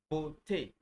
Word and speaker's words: beauté: Okay, it's pronounced A. A. Like if I have the word like excuse me, if I have the word beauté, la beauté, la beauté, beauty, the beauty, right?